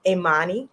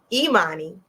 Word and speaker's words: Imani: we will hear from Miss Amani uh oh I think I said her name wrong y'all know me with names Imani she's a middle school